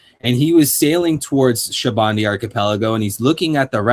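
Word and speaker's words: Sabaody: And I pronounce it as Shabandi because the word of that they're using for this archipelago, it comes from the word Shabandi, which is soap, and everything we see in Shabandi archipelago are like soap bubbles.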